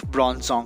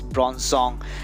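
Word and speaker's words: Bronzong: telling the name wrong it's bronzer and not bronze song so it's the evolved version that's bronze song and this is the previous one that's prawns or okay uh so now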